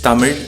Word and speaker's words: Tamil: for the uninitiated yes the language is tamil with a ra sound at the end and not l as it is pronounced in english the reason why tamilnadu